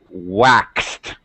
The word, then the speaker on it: waxed: we have that difficult an X sound here is like a KS sound so again we cheat